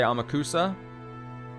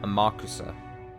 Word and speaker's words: Amakusa: I understand I'm saying it wrong when I say it like I'm saying it right now. I refuse to change. Again, I'm the pilot right now. I'm gonna say Amakusa. I know it's more probably closer to Amakusa.